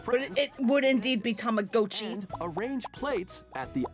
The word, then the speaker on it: Tamagotchi: Welcome to Tamagotchi Plaza, a brand new entry in the Tamagotchi Connection series. I guess it is Tamagotchi, huh? There are That is how you would actually pronounce it.